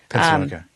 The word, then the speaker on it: Appalachian: How do you How do you say How do you say that word, by the way? Is it Appalachian? Is that how we were talking about Appalachian? Is that how you say it? Is there Is there I think that is There is a debate. Oh, I didn't know. Um I think People in Pennsylvania say it differently.